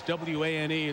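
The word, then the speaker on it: Wane: Voskuhl with 3 fouls checks out, and Suleiman Wan, even though it's W-A-N-E, it's pronounced Wan.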